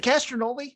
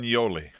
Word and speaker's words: Castagnoli: Is it Castronoli? I don't know how to say it. Castagnoli. Oh, Castagnoli.